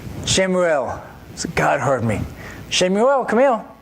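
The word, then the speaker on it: שמואל: She named him Shemuel. That's the Hebrew pronunciation of it. Shemuel.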